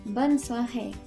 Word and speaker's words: bonne soirée: And this one is just pronounced as bonne soirée. This one you can start saying around 5 o'clock. So when you're leaving, bonne soirée.